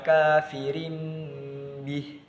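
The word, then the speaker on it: كافر به: Jadi cara bacanya adalah seperti wala takunu awwala kafirim bih. Nah, jadi tanwinnya tadi diganti dengan huruf mim.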